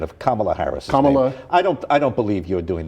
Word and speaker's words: Kamala: By the way, there's been a debate about pronunciation of Kamala Harris. Kamala.